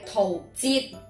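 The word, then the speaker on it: 陶喆: 粤语正确嘅读音系桃节，桃节系节唔系吉。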